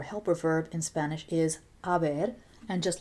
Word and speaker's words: haber: Remember that the H is silent in Spanish, so this looks like he has ha, but remember, we don't say the H in Spanish.